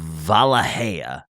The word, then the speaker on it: Wallachia: Wow, I would not have gone for that pronunciation. That is Wallachia. I would have said Wallachia. Yeah, I've been told that Valahia is the Romanian way of pronouncing that, and so that's fair, actually. Yeah, that's what I went for.